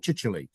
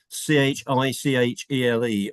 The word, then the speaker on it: Chichele: been in chronological order, it's spelt with a Y on the end of it. And if only he'd got a Y on the end of it, nobody would ever have a problem pronouncing it.